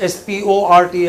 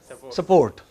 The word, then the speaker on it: sport: people support support yeah they don't pronounce s p o r t as sport they pronounce it as support okay so there you